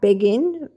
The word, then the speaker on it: Begin: into um the Israeli um beging literally spelled like begin b e g i